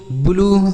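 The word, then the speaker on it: blue: तो अगर यू के साथ ई लिखा हो तो बड़ाऊ की मात्रा का उच्चारण होगा, जैसे true, ब्लू, ग्लू, क्लू, crew.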